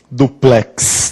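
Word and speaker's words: dúplex: um apartamento o duplex olha só tem um acento e a gente já ouviu o que duplex não a sílaba tônica é lindo duplex um amigo seu chega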